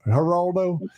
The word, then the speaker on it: Geraldo: But but no Geraldo. No. Like Geraldo. How do you say the G? It's like G Jorge Jazelle George. Geraldo. Heraldo.